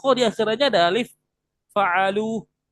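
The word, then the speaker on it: فعلوا: Fa'alu ya Ustaz Q di akhirnya ada alif fa'alu. Alifnya dibaca enggak? Enggak. Enggak dibaca ya. Walaupun ada alif bukan dibacanya jadi fa'al fa'alua fa'alua enggak.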